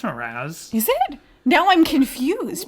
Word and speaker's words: Mraz: Is it not Mraz? No, it's Mraz. Is it? Now I'm confused because of how he pronounced it.